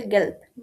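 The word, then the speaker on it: gelb: দেন yellow, যেটা হলুদ, সেই হলুদ কালারকে বলে গেল্প, গেল্প, গেল্প। আমরা পড়েছিলাম যুক্ত বর্ণে যে আমার শেষে যদি বে থাকে তাহলে এটার উচ্চারণটা বের মতো হবে।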